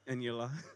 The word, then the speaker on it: Eniola: So we'll circle back to you, Ruth, but for now, let's, Okay, Eniola, sorry, did I pronounce that right? Yes, Eniola.